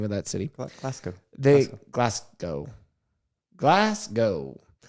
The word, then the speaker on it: Glasgow: In Glasgow, how do you say it? Scotland. I don't know how you say that name of that city. Glasgow. Glasgow. Like Van Gogh's cousin, Glass.